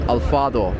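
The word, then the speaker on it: Alphard: The pronunciation here is also different. In English you say Alfred, but in Japan they call it Alfado.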